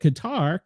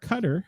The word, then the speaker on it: Qatar: Rubio said that Qatar cutter how people pronounce it both ways played an instrumental role